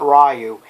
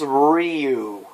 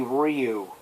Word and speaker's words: Ryu: It's not Ryu, it's Ryu. Learn how to pronounce his name. All you have to do is watch Street Fighter 2 V anime series, and you listen, and they say Ryu.